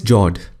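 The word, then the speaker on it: fjord: The next one is jaw. The F word is silent when you pronounce it.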